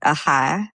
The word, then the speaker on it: OHIA: Uh, and I used to want people to pronounce it AHA, like they do in Southern Ohio.